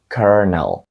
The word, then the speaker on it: colonel: ви його самостійно вимовили правильною вимовою даного слова є kernel knel в перекладі це